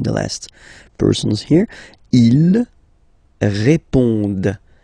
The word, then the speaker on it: répondent: Ils répondent. So same thing here, classic ending, ENT, but then you don't pronounce it.